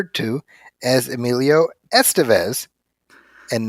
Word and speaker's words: Estevez: So it would put the emphasis on the second syllable, Estevez.